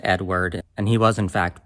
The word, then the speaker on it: Eadweard: you know I'll all crazy Ed but it's pronounced Edward and he was in fact born with it